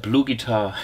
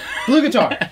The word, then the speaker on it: BluGuitar: blue guitar a blue guitar how do you pronounce it what blue guitar blue guitar I'll take and how what a lucky coincidence